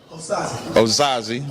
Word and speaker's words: Osaze: Osaze, okay.